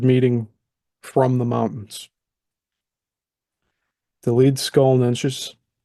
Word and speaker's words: Leedskalnin: of meanie and Andreas lead scalin a word meeting from the mountains the lead skull NES the laian words usually place the accent on the first syllable and the NS ending is pron with what